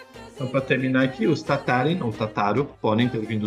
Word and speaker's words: Tataryn: Wszołek, mãe de José Tatarin. Espero que não tenha ficado confuso. E só para mostrar para vocês a, a pronúncia em ucraniano do sobrenome de vocês, aqui, ó. Tatarin. Tatarin, tá bem?